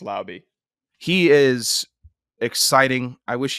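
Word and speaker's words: Laube: We confirmed it's pronounced Lauby.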